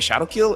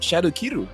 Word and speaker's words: Shadow Kiru: Not many people know that that's exactly how you pronounce the skill name, because I keep hearing people say Ogi Shadow Kill, and I don't know, people just try to westernize everything.